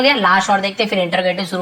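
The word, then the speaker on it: interrogative: last और देखते फिर इंटरोगेटिव शुरू हो जाएंगे, जिसे एक्चुअल में इंट्रोगेटिव बोलते हैं, हम लोग इंटरोगेटिव बोल देते हैं क्योंकि वैसे लिखा, लेकिन इसका प्रोनाउंसिएशन इंट्रोगेटिव ही होता है, लेकिन इंटरोगेटिव बोलिए,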